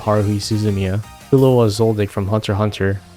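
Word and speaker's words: Hunter × Hunter: suzumia zulua zoldig from Hunter Hunter we don't pronounce the X here guys and the original Edge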